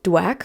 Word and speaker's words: DWAC: to what has happened so dwack which is how i pronounce it is a ticker symbol